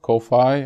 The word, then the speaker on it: Ko-fi: f i or it's kofi like technically like they're asking you to pay for coffee literally but uh so i think it should be pronounced as coffee uh but it's ko-fi